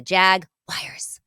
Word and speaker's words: Jaguars: about this and um the wires crowd wins every single time so it just y yeah get on board people they are the Jag wires um all right so